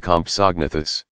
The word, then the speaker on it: Compsognathus: the smallest of them may have been the Compsognathus pronounced compus AHG nathers which was only about as